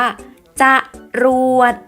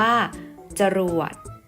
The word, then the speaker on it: จรวด: ที่ ไม่ ประวิสรรชนีย์ คือ คำ ที่ อ่าน ออก เสียง อะ แต่ ไม่ มี รูป สระ อะ ผสม อยู่ เวลา อ่าน